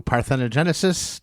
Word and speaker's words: Parthenogenesis: All right, well, let's listen to Parthenogenesis. Did I pronounce that right?